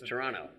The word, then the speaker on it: Toronto: There's no T. There's no second T T. is Toronto. silent. T is silent. So it's Toronto.